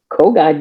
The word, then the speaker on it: Kogod: Is it Kogod? How do you pronounce that? Kogod, you got it.